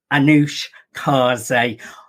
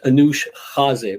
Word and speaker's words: Anoush Khaze: let's bring in our incredible guest and now anush karzai anush i'm getting tongue tied with your name you may want to pronounce it beautifully as you did earlier well